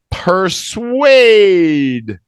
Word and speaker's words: persuade: Milo per or yeah look at that phonic that's the ER phonic here yeah per persuade yeah to persuade